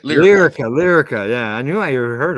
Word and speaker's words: Lyrica: The drug or medicine known as ketamine, ketamar 2, demonstrated up to 112% more effective results than Lycuria, and 70%. What's that? Lyrica, right? Lyrica.